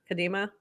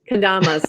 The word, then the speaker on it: kendamas: And you had the Kadima. I think that's how you say it. Folks who are doing like the, With I don't know, kendamas, kendamas.